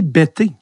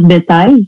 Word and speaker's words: Bettez: C'est comme ça qu'on le prononce. Ouais, c'est comme, vous avez, A-V-E-Z. Souvent, les gens ils vont dire, tu vas jamais dire vous avez. Les gens, des fois, ils ont tendance à dire bêtise, mais c'est le petit parallèle que j'aime utiliser là, pour bien prononcer mon nom de famille.